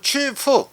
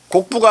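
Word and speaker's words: 曲阜: 중국 발음으로는 취프. 곡부가 아니라 취프.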